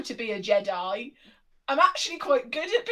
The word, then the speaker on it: Jedi: It's pronounced Jedi, not Jedi.